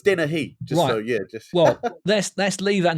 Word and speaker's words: Dennehy: It's pronounced Dennehy. Everyone says hey. It's an interesting thing. So I'm pleased you've done it. Dennehy. Dennehy. Yeah, it's not even a he, but everyone always defaults to hey.